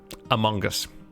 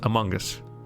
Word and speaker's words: Among Us: about among us okay you're pronouncing the g really hard and uh as like an o sound so you're pronouncing this as among us no among us among us oh yeah i know i know i'm honest no no see i'm now i'm not pronouncing g it's a schwa it's not an o i know it's spelled with an o but you know how